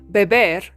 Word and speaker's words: beber: hablar leer comer escri This is very important Because beber means to drink but beb means baby so if you don't pronounce the r at the end aside from not speaking